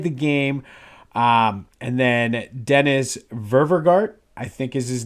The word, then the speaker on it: Dennis Ververgaert: I literally write like I'm a kindergartner sounding out words phonetically sometimes, but I think it's Ververgart.